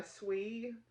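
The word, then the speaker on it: Siew: So this is the Restless Shawl by Swee, S-I-E-W, which I hope is pronounced Swee. That's how I pronounce that. Swee Clark.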